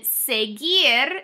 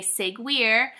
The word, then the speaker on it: seguir: will want to say seguir and that's not it it's a hard G and often times when you have a G and a u together it's just gonna be